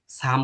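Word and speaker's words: 삶: কিন্তু এখানে দেখেন, এটা কি? এটা কিন্তু আমি সারমা কই নাই, এটা ক্ষেত্রে সাম কইছি, সাম।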